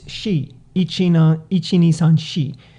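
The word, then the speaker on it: 四: So yeah, the number 4, even in Japanese, because of the word, it's shi, ichi ni san shi. And that's also from the Chinese reading of that.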